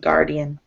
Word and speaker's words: guardian: Yeah, the U is actually silent when it's beside a G like this. It's usually silent, guardian, which is strange, but you know.